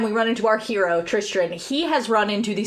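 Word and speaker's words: Tristran: Cuz you're adding It sounds like you're pronouncing Tristan wrong. Uh, so the book his name is actually Tristan with an R. T R I S T R A N.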